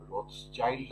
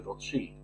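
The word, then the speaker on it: Rothschild: ছিল হচ্ছে যেটাকে যেটাকে আমরা রথ চাইল্ড আমাদের দেশে আপনারা বলেন সঠিক উচ্চারণটা হচ্ছে রথ শিল্ড এই রথ শিল্ডদের পরিবারদের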